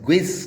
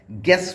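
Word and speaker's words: guess: GUES ग्विस ना बोलकर गेस बोला जाएगा, यहाँ पर भी यू साइलेंट हो जाएगा।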